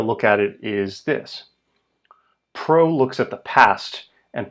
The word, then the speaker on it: pro: Pro is about what happened before, the causes, so it sounds sort of like pre in English.